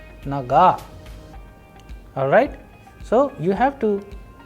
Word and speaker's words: нога: In naga also we have a vowel o, but the stress is on a, that is why the pronunciation is naga.